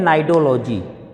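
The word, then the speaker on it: Cnidology: सी silent होता है, उसको हम कहते हैं नाइडोलॉजी।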